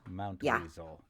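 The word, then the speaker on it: Mountweazel: And if you're wondering, it it's a Z in this in the third syllable. M O U N T W E A Z E L Mount Weasel.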